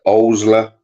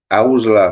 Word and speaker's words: Owsla: What children's classic features a police force called the Owsla?